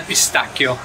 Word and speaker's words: pistacchio: It is pesto al pistacchio, or like the Americans say, pistachio. Pistacchio.